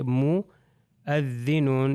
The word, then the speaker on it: مؤذنون: دیکھیے مؤذنون، یعنی صرف ہم نے کہا صرف حمزہ کیا تلفظ ہوگا، واو کو تلفظ نہیں کرنا.